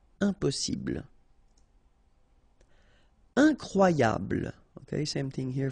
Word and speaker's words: impossible: Don't insist on the final E. Impossible.